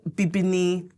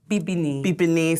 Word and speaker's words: Bibini: So it's Bibini. Bibini. So okay. Bibini in Twi, which is my language that I speak. I'm from Ghana, from the Ashanti tribe. It means black.